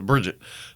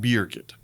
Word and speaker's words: Birgit: name is spelled uniquely how do you properly pronounce it Birgit right but I always you know just like many lazy Americans we sometimes as a Bridget but beer kit so a part of